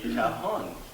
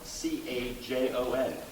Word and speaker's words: cajon: But the cajon, it's spelled C-A-J-O-N, not to be confused by C-O-J-O-N.